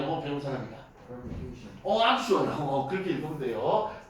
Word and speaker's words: permutation: permutation. 아주 좋아요. 그렇게 읽으면 돼요. 퍼미테이션. 그런데 이렇게 발음이 좀 그지 같고 길어서 사람들이 이걸 P라고 불러요.